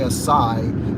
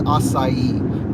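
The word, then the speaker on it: açaí: the starbucks people say a sai but i looked it up just to confirm a couple years ago it is acai because it has like an accent under the sea and an accent over the eye um pretty weird extra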